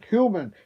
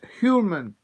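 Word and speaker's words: Hjulmand: And Julian, Hulman. He's pronounced Hulman.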